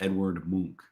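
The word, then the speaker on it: Edvard Munch: try here so he is norwegian and it's pronounced edward monk okay all right well obi-wan karen gets the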